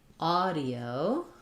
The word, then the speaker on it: audio: anxiety and then lastly audio um the Au says the ah vowel we have spelled that with aw in words like saw or law ah d o first syllable stress audio um yeah good combination